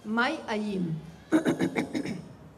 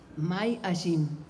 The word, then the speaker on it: May Ayim: May Ayim. May Ayim. Ayim se escribe. May como mayo en inglés y Ayim. Ayim.